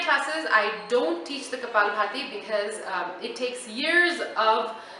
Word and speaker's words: kapalabhati: note about the Cabal party okay now it's kapalabhati I hear people mispronouncing it all the time it's not couple entirety it's kapalabhati and that is considered an advanced pranayama now